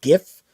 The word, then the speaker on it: GIF: the spelling makes sense so if you see a g it want it to be a hard G sound gift but that's that's just